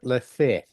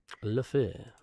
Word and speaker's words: Lefebvre: Do you say Enzo Lefebvre or do you say Enzo Lefebvre? How do you pronounce it? I think he pronounces it Lefebvre, Lefebvre. because the French rarely have hard E's.